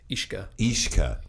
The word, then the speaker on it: IXCA: the owners, because it's IXCA, and it's like that doesn't compute. Yeah, but that doesn't work in my brain. It's a really cool space. How do you say that? Food. Ishka.